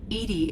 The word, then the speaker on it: EDI: is a jar why are you named Edie Edie is the phonetic pronunciation of e di that is an acronym